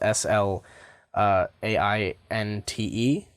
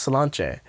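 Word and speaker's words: Sláinte: beanie that says slum J on it and it's spelled SL AI n te but the I has an accent over it and it's pronounced Slainte but this this just says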